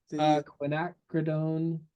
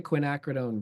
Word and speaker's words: quinacridone: here ah okay MH took me like a year to say that right when acrone okay I was mispronouncing it in class for probably a year and I said it a little different each time too just I think I'm saying it the right way now I don't so